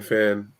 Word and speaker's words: Fan: I'm definitely most on LinkedIn, and Fan, FAN, well, Fanfan, FAN. Fan is the English pronunciation, and you can find